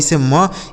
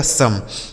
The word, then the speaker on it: some: यहाँ पर ओ का उच्चारण जो होगा वह केवल आ हो जाएगा। क्या हो जाएगा? आ। जैसे एस से हो गया दोस्तों स, इस ओ का उच्चारण अ हो गया, यम और ई से म, यह लिखा गया आपका सम। इसे बोन पढ़ेंगे लेकिन इसे सोम नहीं बल्कि सम पढ़ेंगे।